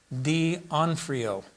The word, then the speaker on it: D'Onofrio: And I think the pronunciation is Vincent D'Onofrio.